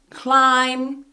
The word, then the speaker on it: climb: So, for example, in the word bomb, climb, tomb, we don't say bomb, climb, tomb. The B is silent in all of these words.